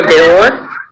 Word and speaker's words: dehors: S will not be pronounced in both.